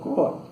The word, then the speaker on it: Croix: El primer jefe político o comandante general de las provincias internas fue el caballero de Croa. Caballero de Croa, Croix se escribe.